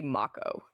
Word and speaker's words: Mako: I think more people were mad about the pronunciation of uh I always said moo and they say Mako and the the throughout the whole game I